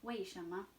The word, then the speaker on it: 为什么: So, remember there's that IE again. It's not pronounced like E or I. It says A. Like in the word 8 in English. It's the E-I-G-H sound. 为什么?